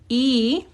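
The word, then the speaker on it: 이: two e young so this is pronounced e in Korean e is um you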